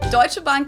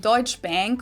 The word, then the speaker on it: Deutsche Bank: English native speakers usually pronounce it Schwarzkopf or Schwarzkopf or something along those lines. Deutsche Bank is the largest bank in Germany.